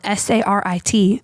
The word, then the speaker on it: Sarit: wrote back and forth was spelled s-a-r-i-t pronounced sarit and I liked that